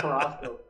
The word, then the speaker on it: Carrasco: It's Carrasco.